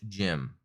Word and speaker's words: GM: it is rgm aka gm pronounced jim but i want to